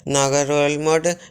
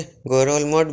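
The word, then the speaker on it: Ngerulmud: पलाउ Philippine सी के दक्षिण में है और इसकी कैपिटल है नागारोलमोड, या एन को साइलेंट करके गोरोलमोड भी कह सकते हैं।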